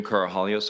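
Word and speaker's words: Karahalios: thank you Mr Mather my name is carohalios I'm counsel for the witness Mr Victor the last name is spelled k-a-r-a-h-a-l-i-o-s uh thank you Mr commissioner for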